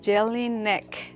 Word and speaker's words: Jelinek: cork products from but i think i may have mispronounced it is jelly neck cork group yeah jelly neck core group and once again i'm